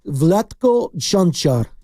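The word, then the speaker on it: Vlatko Čančar: No, it's Vletco Junar.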